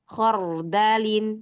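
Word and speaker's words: خَرْدَلٍ: yang berharakat fathah contohnya khardalin jadi ro sukun sebelumnya huruf yang berharakat fathah ya yang keempat ada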